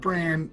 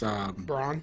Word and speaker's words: Bronn: It's not Bran, it's Bronn.